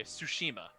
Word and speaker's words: Tsushima: thing I can't pronounce two shima su she knows you know like tsunami right I just sooo not okay Tsushima yes okay I actually just the